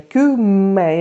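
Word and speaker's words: kümme: Она все время меня поправляла, что надо вот это кюме, и обязательно ме, удвоено вот это вот.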